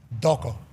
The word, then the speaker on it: Toko: So it's Toko, but in the Tongan language, the T's are pronounced as a D. Doko.